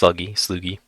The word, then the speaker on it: Slugi: I thought I had a how to pronounce it, but it's Sluggy.